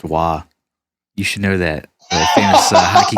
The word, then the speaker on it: Roy: a second guitar player if he's canadian it's pronounced wah you should know that